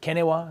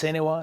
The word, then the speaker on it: CNEWA: Well, the Catholic Near East Welfare Association, some pronounce it Kenewa, Yes. Senewa, CNEWA, has received a unique mandate by the Holy Father, the Holy See, in 1926.